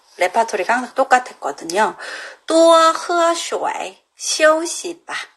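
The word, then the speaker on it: 水: 슈와이. 이렇게 발음해요. 슈이 아니고 슈와이 이렇게 돼요.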